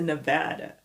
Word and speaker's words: Nevada: Las Vegas, c'est Nevada, dans l'état du Nevada. Nevada, c'est un peu la même prononciation que banana, Nevada, Nebraska, ok?